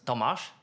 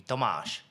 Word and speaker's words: Tomas: country so for example in Great Britain in the UK or let's say in the US you say Thomas or Tom right yeah Tommy yes yes exactly but in Poland for example maybe involvement for example it would be pronounced as tomash whereas in the Czech